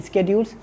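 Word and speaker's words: schedules: उसके बाद आ जाएगा शेड्यूल, स्केड्यूल्स, जो जिसकी असल प्रोनाउंसिएशन है स्केड्यूल्स।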